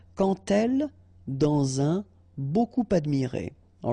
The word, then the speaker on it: quand: So like that, quand elle. All right, same rule here. Remember, when you will have this D, you will phonetically pronounce it like T. Quand elle, dans un, okay, and